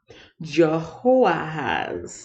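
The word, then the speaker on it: Jehoahaz: for 28 years jehovah has where's our waiter pronounce that yes jehovah has yeah i said that right jehovah has the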